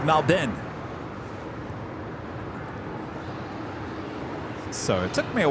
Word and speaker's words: Melbourne: me a while because I used to say it Melbourne then Rudy said no no no no it's Malden so it took me